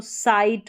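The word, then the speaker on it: sight: Same ऐसे ही एस के बाद में आई जी एच है। इसको आई पढ़ा तो ये बन गया साई और टी को ट। तो साइट हो गया।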